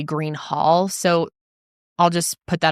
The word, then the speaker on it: Greenhalgh: I think she pronounced it as Greenhal. I have listened to her pronounce it over and over and over and I'm pretty sure that she is saying Greenhal.